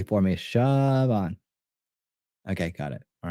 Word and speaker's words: Siobhan: Siobhan. Really? Siobhan. Okay. Siobhan. Got you. I'm glad you did that phonetically for me. Siobhan.